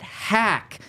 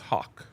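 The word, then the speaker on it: Haack: This morning they signed Matt Hack. Pronounced Hawk. Hawk. That's better.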